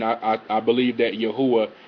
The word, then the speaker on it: Yahweh: I I believe that Yahweh is the correct pronunciation